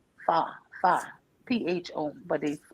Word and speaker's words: pho: um, from beef bones, and it's called pho, pho, PHO, but they pronounce it pho.